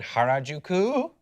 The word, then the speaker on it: Harajuku: But like we were in Harajuku, which I think is how you pronounce it.